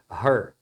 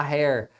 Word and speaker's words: her: o her tá e a pronúncia é her Cuidado para não falar Hair muitos alunos falam Hair mas Hair é cabelo é isso aqui tá